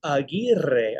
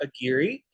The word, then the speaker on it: Aguirre: for 17 and uh my last name is pronounced aguirre aguirre or agiri um you can see